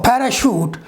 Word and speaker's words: parachute: If you will see words like chef or parachute, if you will see CH in chef or in parachute, this means that this CH pronunciation is French pronunciation.